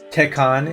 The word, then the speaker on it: Tekken: Tekken is the correct pronunciation, Sleep Easy.